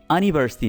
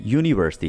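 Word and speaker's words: university: इसी तरह से यूनिवर्सिटी है तो यूनी, ये अनिवर्सिटी नहीं है, यूनिवर्सिटी है, ठीक है, सो इसके पहले हम ए लगाते हैं, राइट, ये बात याद रखिए।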